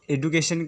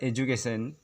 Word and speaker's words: education: इसे अक्सर हम लोग एडुकेशन करके पढ़ते हैं, लेकिन यहाँ का जो डी वर्ड इसे जे पढ़ा जाता है, प्रोनाउंस किया जाता है, जिससे हम लोग का होता है एजुकेशन।